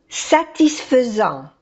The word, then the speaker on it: satisfaisant: Un résultat satisfaisant. Un résultat satisfaisant. Aquí la A y la I se pronuncia E.